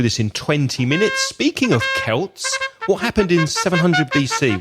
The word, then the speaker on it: Celts: really looks like it but it isn't it's pronounced it's Celts although you do have the football team Celtic